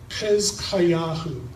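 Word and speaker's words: חזקיהו: Hezkayahu, Hezekiah, that's the Hebrew pronunciation.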